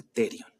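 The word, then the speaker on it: pterion: sea este punto terion con p terion no se escribe pero se pronuncia terion Luego si me voy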